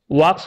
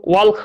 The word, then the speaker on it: walk: যেহেতু উই এটা third person singular number নয়, তার জন্য এখানে কিন্তু ওয়াক্স হবে না, এখানে হবে ওয়াক, WALK। উচ্চারণটা কিন্তু ওয়াল্ক বলবা না, ওয়াক বলবা।